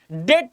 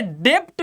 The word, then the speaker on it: debt: अब यहां पे तुम पढ़ोगे डेब्ट ट्रैप तब तुम्हारी प्रोनाउंसिएशन थोड़ी सी गलत हो जाएगी मेरी जान। यहां पे तुम्हें बी नहीं पढ़ना है, बी प्रोनाउंसिएट नहीं करना है, तुम्हें बस DET प्रोनाउंसिएट करना है।